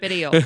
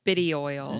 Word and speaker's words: cannabidiol: Yeah, cannabinoid, or however you pronounce it. Cannabidiol. Yes. Cannabidiol.